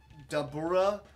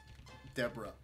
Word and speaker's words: Dabura: They had Dabura. This as some people will pronounce it. It was very weird. Deborah. No! At least it's a decent defense card, but come on.